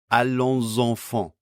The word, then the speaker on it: allons enfants: We get liaison between these first two words, so the final S of allons is pronounced as a voice sound before enfant. Allons enfants.